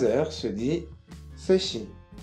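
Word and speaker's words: 세 시: 3 heures se dit seshi, seshi.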